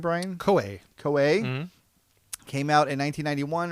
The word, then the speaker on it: Koei: Koei.